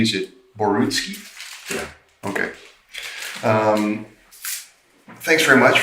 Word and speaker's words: Borutski: Now, Basil, am I pronouncing your last name correctly? Is it Borutski?